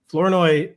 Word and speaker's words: Flournoy: Flournoy, he pronounces his name without the R. Apparently.